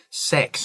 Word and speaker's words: Sachs: Sachs, I think is how we pronounce his name.